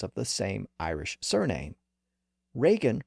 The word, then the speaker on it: Reagan: the same Irish surname Reagan reflects an older more traditional pronunciation with the vowel in position number two like in break and stake and Regan reflects a